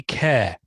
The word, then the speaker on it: Kjar: Andy Kerr, whose surname is pronounced Kerr, but it's spelt Kjar.